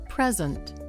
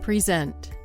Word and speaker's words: present: Present and present. The first one's a noun and the second one's a verb, but they're spelled exactly the same.